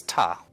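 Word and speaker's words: た: you here's our first new character this is taw or taw it's a constant followed by a vowel and makes up a single syllable you pronounce this asked tough let's practice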